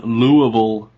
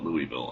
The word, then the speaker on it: Louisville: honestly don't ever understand a lot of people call it louisville and i don't understand where they get louie from well number one i've never been to lureville kentucky oh try to